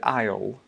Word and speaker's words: aisle: aisle" Now, the word "aisle" is notoriously difficult for people to pronounce. Why do you think that is? Well, it's got a lot of silent letters that aren't really pronounced when you say it.